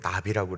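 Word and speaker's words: נביא: 선지자를 가리켜 히브리어로 나비라고 그래요. 절대로 잊어버리지 않을 거예요. 하늘을 날아다니는 나비를 보면 아, 선지자구나 라고 생각하시면 돼요. 발음이 똑같아요.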